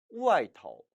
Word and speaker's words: 外头: 이때 头는 머리 두자의 머리가 아니라 전미사로 써주는 것이기 때문에 경성 처리예요. 예를 들어서 안쪽 하면은 里头, 里头. 바깥쪽 하면 外头, 外头라고 발음한다는 것입니다.